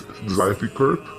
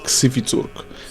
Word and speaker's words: Xificurk: pronunciation of your band, as I've been probably pronouncing it wrong as Xificurk.